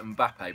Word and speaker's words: Mbappé: go to Arsenal and how do you say his last name I say mbappe but I used to say map and then all the people on YouTube told me I was wrong which was disappointing because